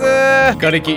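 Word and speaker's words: 残骸: 残骸って書くんだけど瓦礫と読みます。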